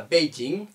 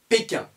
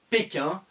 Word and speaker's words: Pékin: pas p jing un on ne dit pas beijing ont dit pékin on dit toujours pékin en france pour appeler la capitale chinoise shanghai et pékin un visa étudiant dans